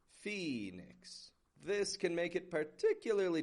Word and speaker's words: Phoenix: And this one's tough not only because of the PH, but also because it has this O-E spelling in the beginning that we pronounce like an E. P-H-O-E-N-I-X. Phoenix.